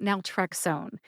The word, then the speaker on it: naltrexone: Today, we're talking about Naltrexone. If you're new to my drug name pronunciation series, welcome.